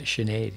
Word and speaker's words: Sinead: Say that right? Sinead. Sinead. You say that's it. That's a better pronunciation.